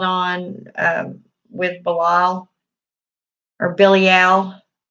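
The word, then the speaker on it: Belial: on with Bilal or Billy al is how you pronounce it now Lucifer throughout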